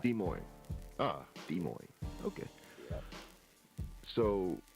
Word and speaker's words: Des Moines: The S is silent on both of those. It's just Des Moines. Des Moines.